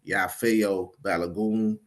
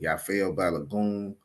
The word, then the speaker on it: Yafeuh Balogun: should conad your brother the name is pronounced yafo balagon I say it again yafo balagon uh that's my name